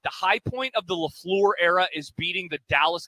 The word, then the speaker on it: LaFleur: That's the thing I always think about with the Packers is like the high point of the LaFleur era is beating the Dallas Cowboys in the postseason.